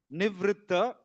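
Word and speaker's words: निवृत्त: Nivritta is a combination of two syllables, ni and vritta. Vrit and tha, you can say.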